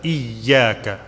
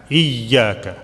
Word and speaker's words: إياك: Little bit stress on the ya because it has a shadda. إياك. إياك.